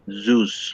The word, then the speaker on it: Zeus: yeah that's right because you have to emphasize this letter is z zeus okay so let's go